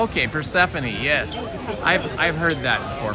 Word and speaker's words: Persephone: A funny name, pronounced, but Anglo phonetically is Persephone. Oh, okay, Persephone.